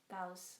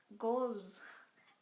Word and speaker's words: gauze: I don't know how to pronounce Gauss Gauss pronunciation. Do they pronounce Gauss? Gauss. Gauss. Let me just hear how it's pronounced. Gauze. Gauze. Oh.